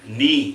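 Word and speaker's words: に: Ni, you will say you will relate to your knee.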